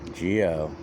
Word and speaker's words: xxgeox: him to get out get ready yeah yeah geo it's spelled x x's g o and then space